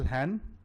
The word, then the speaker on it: Hahn: Hahn. Is that the correct pronunciation I've got?